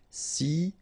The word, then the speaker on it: silencieux: Final X not pronounced, okay? This part here will be pronounced like cieux, okay? Then you get silencieux.